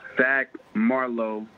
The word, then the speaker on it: Fac Marlo: Yeah, it's Fac Marlo. FAC standing for Family Always Counts.